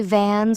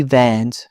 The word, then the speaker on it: Vans: I notice people say Vans with a long A. It's simply Vans, short and sharp.